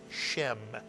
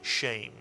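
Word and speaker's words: שֵׁם: By the way, here's an example of where the tsere is pronounced very much like a segol. You'll very often hear this word read as shem rather than shame. But shame or shem, it means name.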